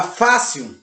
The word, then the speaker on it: fácil: Se referindo à paroxítona, nós temos, deixa eu pensar aqui, a palavra fácil. A palavra fácil, ela é acentuada no ar.